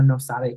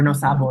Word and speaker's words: no sabo: It was kind of like the original no sabe kid, right? Like y'all hear the term maiden slur, no sabe, or no sabo, excuse me. The no sabo kid. Yeah, I'm saying it wrong.